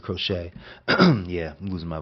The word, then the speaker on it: Crochet: Garrick Coette, the way I was pronouncing, but Garrett Crochet.